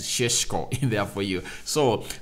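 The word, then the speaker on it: Šeško: over the news benjamin people call him cesc but i've heard that in slovenia you you the bright pronunciation of this guy is sheshko in there for you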